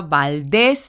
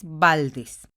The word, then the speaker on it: Valdez: se escribe con zeta localizamos la sílaba tónica valdez valdez vemos que se encuentra en la última sílaba que es des entonces